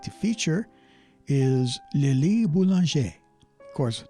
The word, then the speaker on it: Boulanger: And the first composer that I'd like to feature is Lili Boulanger. Of course, the name looks like it should be pronounced Boulanger, but don't you dare pronounce it that way.